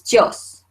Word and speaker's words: tíos: So this should say mis tíos, mis tíos. But I want to hear the I, and I give it its own voice. So actually this becomes a 2-syllable word, okay?